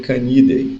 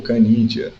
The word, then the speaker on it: Canidae: Na ordem carnívora, você terá várias famílias, dentre elas a família Canidae, ou Canidia, como queiram falar. É percebido uma condição aqui